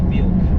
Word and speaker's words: Wilk: My last name translates to wolf. Yeah. But it's pronounced Wilk in Polish.